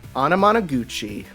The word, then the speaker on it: Anamanaguchi: The music by that band I could never pronounce the name of correctly. Anamanaguchi.